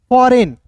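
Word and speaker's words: foreign: होता है यहां पे जी के बाद एन आया तो जी साइलेंट होगा एफ का दोस्तों फ हो जाएगा ओ का उच्चारण औ के रूप में फ आर ई का होता है दोस्तों रे एन का दोस्तों न हो जाएगा तो क्या पढ़ेंगे फॉरेन और दोस्तों यहां जी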